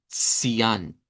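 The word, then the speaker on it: Zyan: por el africado TS, como cuando decimos el número dos, s- bai, vean, s- ian, s- ian. Sería el sonido de esta y nos dicen que debe de ser con una I redonda.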